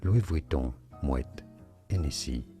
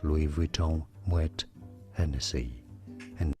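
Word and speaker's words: Louis Vuitton Moët Hennessy: Louis Vuitton, Moet, Hennessy is how you pronounce that, or in English, Louis Vuitton, Moet, Hennessy.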